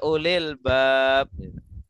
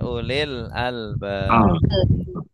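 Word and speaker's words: أولي الألباب: Jangan bacanya ya ulil bab. Ya ulil bab berarti wahai orang-orang yang punya pin pintu. Oh maka pakai gitu ustaz ya. Al al albab. Ya. Ulil albab.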